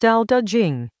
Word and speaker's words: Tao Te Ching: Tao Te Ching, pronounced Tao Te Ching, Chapter 30.